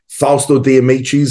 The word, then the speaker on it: Fausto De Amicis: a fantastic individual none other than the great fosto damichi and sakuro welcome fast to this conversation Sasha